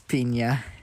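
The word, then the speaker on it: piña: But, yes, pina coladas. Pina coladas. Pina coladas. No, I wouldn't say that. Yeah. Yeah, it's pina. Pina. Pina Because coladas. the N makes an Enye sort of Because sound.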